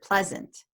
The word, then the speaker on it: pleasant: claire's point before about when you add suffixes pronunciation can change please plus the a and t suffix gives us the word pleasant now the meaning is